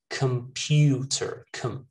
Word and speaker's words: computer: All of these words, guys, they're pronounced with a schwa in that first syllable, all right? Not com, not con. Most people just say, you know, collect, connect, communicate, confine, computer. No, computer, computer, okay?